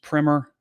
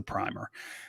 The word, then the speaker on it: primer: have said it's pronounced primer but it's not a book it's the paint that goes on for the real paint it's the primer so um we usually